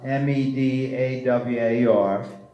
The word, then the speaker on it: Medawar: bomb before us there are two authors of Medawar meed awar and pike pyk II in 1939 he he